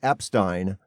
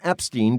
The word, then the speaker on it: Epstein: paid a guy named jeffrey epstein or epstein depending on how you pronounce it i think he pronounced it jeff epstein well leon black paid